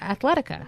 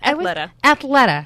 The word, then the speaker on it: Athleta: And another wonderful thing about Pauline is she's also the spokeswoman for Athletica. Yes. Did I always say it right? Athleta. Yeah. My daughter always corrects me too.